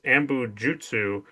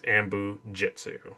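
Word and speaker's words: anbo-jyutsu: While it is written in the script is ambujutsu. Kyle and William Riker pronounce it as ambujitsu. Ambujutsu.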